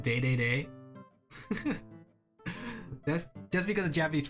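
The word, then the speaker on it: Dedede: did you know DDD was supposed to be pronounced day day that's just because of Japanese for Medics because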